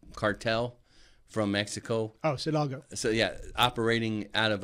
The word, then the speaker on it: Sinaloa: When you have I can't pronounce the word right, Salida cartel from Mexico. Oh, Sinaloa.